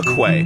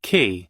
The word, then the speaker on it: quay: And to bridge the gap between them, I need to build a quay. All right, I uh I Googled it. It's it's it's not qu. It's pronounced ki.